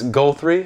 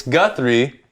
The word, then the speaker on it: Guthrie: I had a teacher in high school who, the first day of school, she's like, Guthrie? And I went, it's Guthrie.